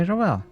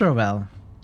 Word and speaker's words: Ravel: I've been saying Ravel because of the composer, but maybe it's Ravel. What happened next? She asked her question. I could not answer it. You always pronounced it Ravel? I guess we'll hear it somewhere. She asked her question. I could not answer it. Like unravel without the un, yeah.